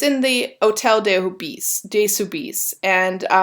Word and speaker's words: hôtel: And it's in the Hôtel de Soubise. And French don't really say H mostly in their words, so the H is there, but it's silent.